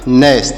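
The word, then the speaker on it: gnu: है दांत पीसना बोल सकते हैं दांत पीसना नेस नेस मतलब हो जाएगा दांत पीसना जी एन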